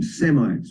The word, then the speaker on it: Semite: Rabbi would say the the S is are pronounced with a sh and then if we